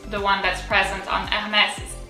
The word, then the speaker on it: Hermès: I would say that when you don't know, if you're in doubt, if, for example, you don't know the word, I would say there is a very strong likelihood that the emphasis is on the last letter, and for Hermès it's definitely the case because the S kind of goes like, I would say, little snakes that go towards you, it goes that kind of stuff.